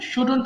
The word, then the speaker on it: shouldn't: পড়বো তখন শুডের জায়গায় শুডেন্ট বলবো হ্যাঁ উচ্চারণটা ভালো করে শুনবো এটা অনেকেই শুডন্ট বলে হ্যাঁ শুডন্ট হবে না উচ্চারণ হবে শুডেন্ট শুডেন্ট আই শুডেন্ট right